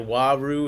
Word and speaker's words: Waru: Louise said Waru is how you pronounce that.